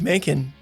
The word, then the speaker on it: Makin: here in season two sitting down with Dave manin Dave welcome to the podcast thank you for